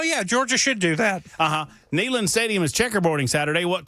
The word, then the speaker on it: Neyland: Neyland. I say it right, Neyland. Neyland. It's like take a knee land.